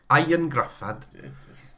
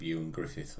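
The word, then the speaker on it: Ioan Gruffudd: Ian Grufford. Isn't it sort of Ewan Griffith or something? When you actually say it.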